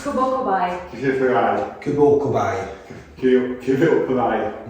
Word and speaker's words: Kubo Kobi: How do you pronounce it? That's good. It's Kubo Kobi.